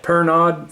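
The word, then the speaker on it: Pernod: on the shoulder and it stamped per nod phil's and it was perno i guess they pronounce it in france but that was an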